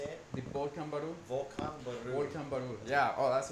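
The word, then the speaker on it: Volcán Barú: Volcan Baru.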